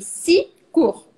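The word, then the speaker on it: six cours: mais c'est comme ça on ne prononce pas le x parce que le prochain nom commence par un c donc je dis si court si comme tu as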